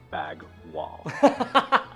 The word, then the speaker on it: bagual: 3, bagwal. Che. It's pronounced more like bag wall.